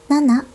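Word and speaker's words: 七: Nên số bảy đọc là "nana", số bốn đọc là "yon" chứ không phải "shi".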